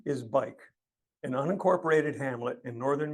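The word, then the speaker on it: Buyck: Its name is spelled B-U-Y-C-K, but pronounced bike, like the short form of bicycle.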